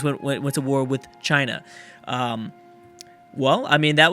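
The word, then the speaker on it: Qin: a Chinese War for is it chin I think someone told me to pronounce it as chin so uh they're also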